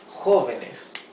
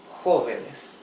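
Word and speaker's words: joven: r is at the beginning of the word Hoven actually needs to have a te here Hoven means young in plural the singular of Hoven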